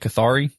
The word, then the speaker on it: Cathari: book the cathari treasure is that how you say it cathari yeah the cathari treasure that's corre yes so I would